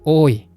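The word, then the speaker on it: 多: Onyominya ta, kunyominya oi.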